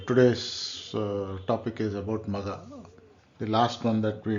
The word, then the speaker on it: Magha: the entire thing so it is generally pronounce maga maga is what is say Maga is like Mega so it's like large so it is super sized